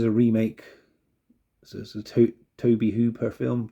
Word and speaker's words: Tobe Hooper: remake so a to Toby Hooper film Tobe Hooper Toby Hooper I think his name is pronounced the director of the